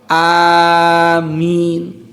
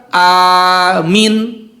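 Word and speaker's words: آمين: A-madnya dipanjangkan, lalu min juga dipanjangkan. Jadi bacanya amin. A-nya harus panjang, min-nya pun panjang. Lalu kalau membacanya A-nya panjang, lalu min-nya pendek dibaca amin, maka maknanya bukan ya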